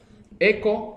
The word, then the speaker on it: echo: Yo digo echo, pero se escribe hecho, ¿cierto? En inglés, la H, esa H no se pronuncia en inglés.